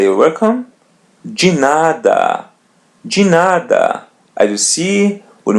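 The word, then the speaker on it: de nada: the expression you're welcome we're going to pronounce it as G the same thing as in 10 G remember now ask everything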